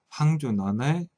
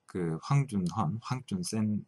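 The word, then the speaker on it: 黃遵憲: 우선 조선이 그 미국과 수교하려고 한다는 의도가 그 대외적으로 알려지게 된 첫 번째 계기가 되었던 황준헌의 황준센, 중국 발음은 황준센이죠. 황준센의 조선 책략이 첫 페이지에 등장하는데요.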